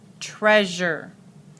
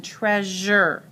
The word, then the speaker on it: treasure: syllable okay when they multi-slavic word ends with syllable sure or sure the syllable is usually acts unaccented and has the Azure sound as in the word let's see let's find a word and see if I can find here's a word treasure okay so it has